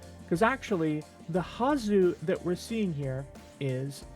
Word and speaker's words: はず: So we know that when the ha hiragana is used within a noun or as part of a kanji, it's always pronounced ha and not wah because it's not a particle.